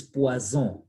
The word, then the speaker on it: poison: Then the next one is poison. I told you single S between 4 and Z. Double S, S sound retained.